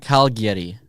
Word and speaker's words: Cagliari: Cagliari. Yeah, okay. So it's like Calgary with a Y in the middle. It's an I, not a Y. But it's Cagliari.